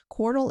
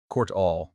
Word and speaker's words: Qortal: Definately and Qortal is pronounced like portal, but with a Q sound at the start. So, Qort. Qort all.